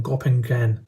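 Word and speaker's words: Göppingen: these things are from gopping gen I think that's how you pronounce it in Germany which is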